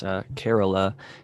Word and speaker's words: Kerala: I was mispronouncing in the past and calling it Kerala. It's Kerala. It's from India, I believe. It's Kerala. I was always calling it Kerala too. Yeah, somebody DM'd me or even wrote a comment on the show, and they're like, it's actually pronounced Kerala.